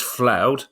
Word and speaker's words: Floud: reason I know it's floud is because says I know Kevin had problems with my name previously but it's floud pronounced cloud with an F so if if I